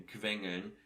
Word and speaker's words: quengeln: So Q, you see the first letter here in quengeln. I don't say Q, I say Qv, so I will deal with it on next lesson.